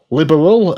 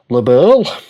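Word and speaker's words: Liberl: You can see there the uh map of Labberl or Liberal as they randomly decide to pronounce it in this game despite years of calling it label.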